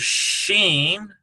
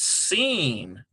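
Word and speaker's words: שׂ: This one here is Sheen sound. Transliterate like this. Or that's seen, rather. I'm sorry. We did that one wrong. That is because it's the superlinear dot is here. So it's seen.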